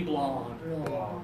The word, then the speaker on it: blonde: give me bland good another Petrie give me blonde really good job I heard the difference okay